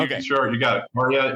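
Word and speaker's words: Karia: Well, first of all, am I Caria, pronouncing it right? Yeah. Okay. Sure. You got it. Caria.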